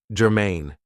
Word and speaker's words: germane: Now, this is 2 syllables, and the stress is on the second syllable, germane.